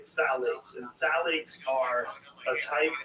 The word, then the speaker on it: phthalates: And when the introduction of phthalates, it starts with P-T-H-A-L-A-T-E-S, I think it's how you spell it. You say phthalates, and phthalates are a